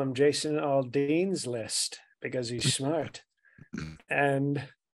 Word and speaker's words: Aldean: say his name wrong no no you said Jason Aldean we say all Dean all day strong Mega guy